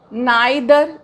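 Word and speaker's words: neither: Each आता है, आइदर, इसको ईदर भी बोला जाता है, नाइदर, इसको नीदर भी बोला जाता है। तो जो ईदर एंड नीदर है ये अमेरिकन प्रोनाउंसिएशन है और आइदर एंड नाइदर British pronunciation है, बट बोथ आर करेक्ट।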